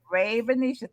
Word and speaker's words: Ravenisha: Ravenisha? Ravenisha. Think about that. Raven. That's so Raven.